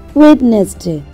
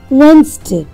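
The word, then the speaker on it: Wednesday: Next word দেখো আরেকটা শিখিয়ে দিই, এটাকে আমরা অনেকে বলি ওয়েডনেসডে, এটা কিন্তু ঠিক নয়। সঠিক প্রোনাউন্সিয়েশন হলো ওয়েনসডে, ওয়েনসডে।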